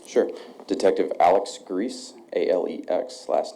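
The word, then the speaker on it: Gries: Detective Alex Grease, A-L-E-X, last name is spelled G-R-I-E-S.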